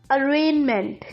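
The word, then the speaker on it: arraignment: अरेनमेंट, जी इसमें साइलेंट है।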